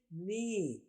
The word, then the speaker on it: knee: دیکھیے نی. کے کی کوئی آواز نہیں ہے.